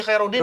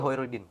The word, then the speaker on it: Khairudin: Khairudin Rudi ya? Rudi Hoirudin. Iya, Rudi Bacanya Hoirudin. H atau Kho? Kho. Itu kol-kola itu. Kho. Khairudin. Rudi Hoirudin. Khairudin. Iya, Pak.